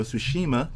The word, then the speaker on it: Tsushima: Well, first of all, it's called the Ghost of Tsushima.